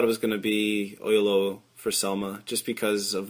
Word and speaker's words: Oyelowo: you'll wonder why David Oyelowo, how do you pronounce his last name? Oyelowo, I think.